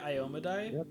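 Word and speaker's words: Iomedae: of worship for uh iyomeday is that you pronounce it ayomide I've always heard it ioma diet but I think you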